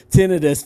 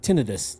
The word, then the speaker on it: tinnitus: wanted to know i googled how do you pronounce it and it even said it you know phonetically spelled it out t-i-n-n-u-h tonight tinnitus tinnitus okay yeah so you're right